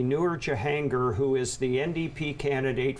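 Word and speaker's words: Noor Jahangir: pronouncing your name correctly so it's actually pronounced newer john gear newer john gear okay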